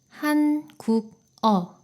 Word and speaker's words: 한국어: 그런데 국어, 이 부분을 발음하기가 좀 딱딱하고 불편해요. 그래서 받침이 있는 글자 뒤에 모음으로 시작하는 글자가 오면 받침이 이응 자리로 이동해서 발음이 됩니다. 한국어가 돼요.